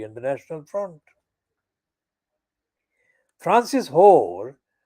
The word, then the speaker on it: Hoare: Francis Hoare, not spelt as a Whore like the prostitute whore, but this whore is pronounced spelled Hoar, who represents the voters